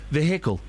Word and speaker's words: vehicle: Yeah, you've got to pronounce the H of vehicle.